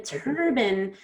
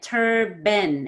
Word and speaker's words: turban: Okay, then turban, you kind of went turban and you equally stressed both of the syllables, but you need to stretch out. We're going to stress tur. So that means you need to have tur be more stretched out and the ben is faster. Ben is a reduced syllable, turban.